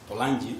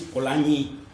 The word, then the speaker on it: Polanyi: I usually use the Spanish pronunciation for Polanyi. I use Polanyi. I consulted a couple of dictionaries online, and it happens that in Hungarian the pronunciation is Polanyi. So I'm going to use the Hungarian pronunciation, which is like in Spanish.